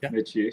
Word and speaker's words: Metchie: or Mitchi, sorry.